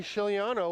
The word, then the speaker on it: Giuliano: the middle and Frankie Giuliano with the quiet G it's gonna pass it